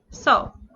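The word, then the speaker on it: そ: least for the s consonant sounds we have so this is a single line if you have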